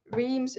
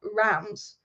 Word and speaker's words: Reims: well, really good with Reims. Apparently it's not called Reims. Apparently it's called like Rams or something.